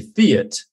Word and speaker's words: Fiat: Like, because I was raised in England, I say Fiat, which is a different pronunciation, which rhymes with see it.